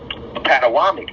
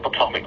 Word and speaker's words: Potomac: Patawamek, as they pronounce it. Originally, now it's been repronounced to Potomac. So this is why it's called the Potomac River.